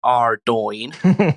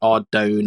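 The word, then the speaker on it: Ardougne: Uh quick note for Dills, the pronunciation is Ardo, not Ardone or Argy.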